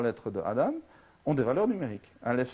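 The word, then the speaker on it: אדם: Donc, voilà, on écrit Aleph, Dalet, Mem, ça veut dire Adam, si on le prononce comme ça, et ça veut dire homme. Mais si on prononce Edom, c'est-à-dire avec les mêmes lettres, ça veut dire rouge.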